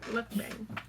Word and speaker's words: mukbang: It's pronounced Goodbye, ball cat. mukbang.